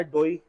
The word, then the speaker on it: DOI: बात क्लियर कर दूं, इसका कोई फिक्स प्रोनाउंसिएशन नहीं है। ओके, मैंने कल कहा था डोई, ठीक है, और मुझे ऐसे लिंक्स मौजूद है जहाँ पे डोई कह रहे हैं, लेकिन मुझे फिर